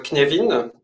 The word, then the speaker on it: Cynefin: les freelanceurs j'aimerais vous partager ce sujet sur kinévin on va apprendre à comment prononcer ce mot Gallois et aussi comment ça